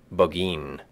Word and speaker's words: Burgoyne: He pronounced it Bogeen, which my informant used to borrow.